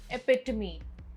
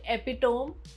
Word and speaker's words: epitome: Word 25, epitome. Not epitome, epitome.